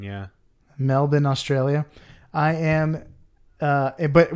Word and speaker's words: Melbourne: melbourne but i've heard that you're supposed to pronounce it melbourne melbourne yeah melbourne australia i am uh but we have a